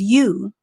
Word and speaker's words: you: have the letter u it's not pronounced you owe you the letter o is actually silent in this particular word which means that you don't hear the sound that the letter makes when you pronounce it so if the letter o is silent and the y has the u sound and the u has the u sound then this word is you excellent for those of